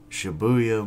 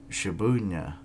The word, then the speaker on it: Shibuya: of some power lines shibuya ward tokyo okay we've got a brainy buddy a humanoid monster suddenly appeared in the shibuna what shibuya i literally had just pronounced that i don't know why